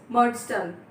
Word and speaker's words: Murdstone: Murdstone started to visit our home. Just be careful with the pronunciation. It's Murdstone, right?